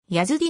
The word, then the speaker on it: ヤズディ: とも書かれるヤズディの方が本来の発音に近い 8 時度胸ヤジド